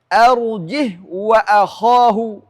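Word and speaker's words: أرجه: Tidak boleh dibaca silah dan harus baca sukun. Ini juga harakatnya hilang. Walaupun kita mewasalkan bacaan, harus sukun. Arjih wa akhah.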